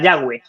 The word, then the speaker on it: Yahweh: Le dice que se pronuncia Yahweh.